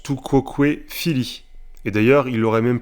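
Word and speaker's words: tu quoque, fili: Il s'est tourné vers moi et a dit « Tu coques, Phili ?»« Pardon? Tu coques, Phili ?»« Pardon? Tu coques ?» Pardon? Bon, ça se prononce tout quoque fili.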